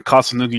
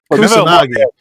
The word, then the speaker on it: Kusanagi: past weekend, and I felt your pain when Kasanugi jumped. Kasanugi, oh my god, I can't pronounce his name at the moment. But Kasanugi, oh my god, holy shit, Greg, you know, Kusanagi.